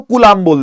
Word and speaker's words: Coulomb: COULOMB है, COULOMB, कूलॉम्ब। कूलाम बोल देते हैं वैसे, अगर आप इसको ऑडियो में सुनोगे कि क्या कैसे बोला जाता है तो कूलाम बोल देते हैं, कूलाम, ठीक